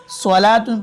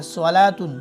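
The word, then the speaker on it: صلاة: जैसे सलातुन, ये वाव रहा, उसके पीछे वाले हर्फ के ऊपर खड़ा जबर है, तो ये वाव नहीं पढ़ा जाएगा। हम इसको सलातुन पढ़ेंगे। सलातुन, देखो वाव का प्रोनाउंसिएशन नहीं आया, सलातुन हो गया।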